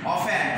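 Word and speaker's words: often: অফেন ও এফ টি ই এন, এই শব্দটির উচ্চারণ হবে অফেন।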